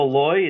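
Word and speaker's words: Aloi: My name is Alloy. It's spelled A-L-O-I.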